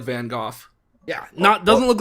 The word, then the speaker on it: Van Gogh: Yeah, because that ain't Van Gogh. That's Van Gogh. Gogh. I'm pronouncing that GH with, a f sound, like in laugh. Van Gogh.